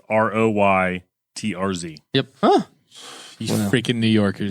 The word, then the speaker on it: Reuters: it's the pronunciation is Roytrz.